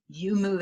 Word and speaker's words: YouMove: makes a product called YouMove Advance 360. YouMove is spelled Y-U and then capital M-O-V-E. So YouMove, like you move better, Advance 360.